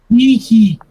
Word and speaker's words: Nike: it pronounced? Nike.